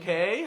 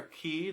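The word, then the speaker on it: Cay: Island uh great stroke K are key depending on how you like to pronounce all that stuff and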